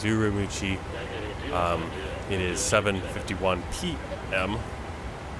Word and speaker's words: Ürümqi: in ucci uh U urumi that's how you say it in Chinese urumi um it is 7:51